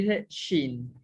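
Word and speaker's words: שִׁין: Luego sigue la consonante shin, que es en este caso una shin y una jirik malé, forma la sílaba shi. Y al final está una nun final que suena como N y dice shin.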